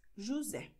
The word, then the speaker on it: José: José wird wie S ausgesprochen, weil es hier zwischen Vokalen ist. José.